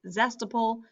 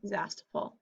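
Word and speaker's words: Zastoupil: I only have one last name, and it is Zestapol. So I'm going to put here the letters and then pronounce like this, Z-A-S-T-O-U-P-I-L. And that's how I would pronounce spelling Zastapol.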